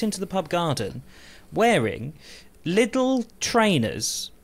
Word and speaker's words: Lidl: Anyway, I hate to break it all to you, but it's not pronounced Lidl. Lidl. Lidl.